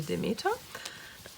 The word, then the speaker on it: Demeter: We Germans would say Demeter.